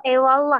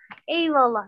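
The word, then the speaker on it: eyvallah: Tapi W-nya itu lembut, hampir terucap ke huruf W misalnya. Ewallah. Jadi nggak nampak P, nggak nampak W. Ewallah, ya kan? Antara keduanya. Ewallah.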